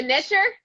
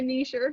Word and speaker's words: niche: e n-i-c-h go ahead are you a nicher i'm a niche not a knee sure it's tomato tomato everyone